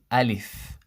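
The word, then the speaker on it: Alif: is wrong and you you find it spelled sometimes a lef Aleph this is wrong it should be Aleph Aleph not la la I live so this is in terms of the pronunciation we have to say a leaf a leaf correctly three in terms of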